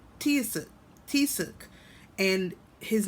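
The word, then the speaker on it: Taoiseach: Um, Tiosuk and it's spelled T I O S E A C H. Tiosuk. Tisuk.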